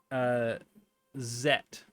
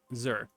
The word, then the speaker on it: Zur: You get to ask Zet. Okay. Which you learn is how you pronounce, or Zur, sorry. Zur is how you pronounce his name.